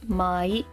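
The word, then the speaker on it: 毎: This is mai, which means every. This is old, which is pronounced furu or ko.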